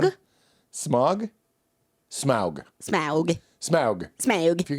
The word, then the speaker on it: Smaug: as a Smog. man? Smog? Smaug. Smaug. Smaug. Smaug. If you're going to be the Smaug.